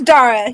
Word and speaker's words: Dara: Is it Dara or Dara? It's Dara, yes.